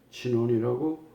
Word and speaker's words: 견훤: 후백제 견훤에 나오는 견훤입니다. 그 지역에서는 진원이라고 발음을 합니다.